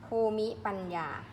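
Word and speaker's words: ภูมิปัญญา: นะ คะ ภูมิ ปัญญา ภู มิ ปัญญา ต้อง อ่าน ว่า ภูมิ ปัญญา เพราะ ว่า อะไร สระ อิ ไม่ ออก เสียง เมรุ เผา ศพ เมรุ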